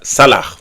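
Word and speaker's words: סלח: Donc vous l'écrivez C-A-L-A-C-H, mais ça se prononce salah.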